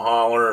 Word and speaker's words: Hollow: And I've talked about them some, and Sensabaugh Holler, and yeah, it's spelled with a HOLLOW, but it ain't said that way. Just so you know, it sounds like it has an R at the end.